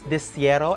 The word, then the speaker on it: De Cero: I know how to pronounce it correctly. It's De Cero, and I don't know what is the name